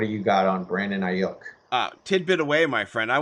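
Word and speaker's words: Aiyuk: It's Brandon Ayuk. Ayuk.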